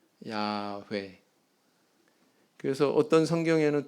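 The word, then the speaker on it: 야훼: 저렇게 발음할 리가 없다 그럼 그 사람들 발음 습관상 어떻게 발음할 거 같냐 가장 가능성 있는 것은 야외다 야회 그래서 어떤 성경에는 또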